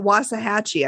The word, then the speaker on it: Waxahachie: pronunciation of it because it's waxahachie but they say it was a hatchy i think oh they don't